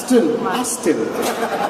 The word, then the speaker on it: Aston: Pronounce it properly. What is it called? Tell me. Aston.